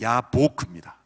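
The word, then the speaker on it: יבק: 야복강을 히브리어로 읽으면 야보크입니다.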